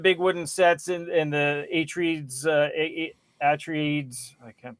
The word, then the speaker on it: Atreides: Anyway, you have the big wooden sets and the Atreides, I can't pronounce that. Atreides.